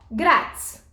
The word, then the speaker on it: grátis: eu fui comprar é grátis 100 graus ó grátis vamos separar isso em sílaba gratis como é que a sílaba tônica